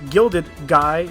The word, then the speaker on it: Gilda Guy: Well, apart from being the creator of the show, Gilda Guy, pronounced Gilded Guy, I find myself saying it just like Gilda Guy.